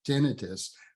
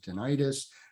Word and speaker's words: tinnitus: it it is pronounced tinnitus with the emphasis on the first syllable the ten um tinnitus is in the common lexicon people many many people pronounce it tinnitus um that's okay too